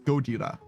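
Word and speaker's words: ゴジラ: when they say Godzilla, Gojira, but that's what his name is. We just call him Godzilla, right? Like his name is literally the 3 syllables Gojira.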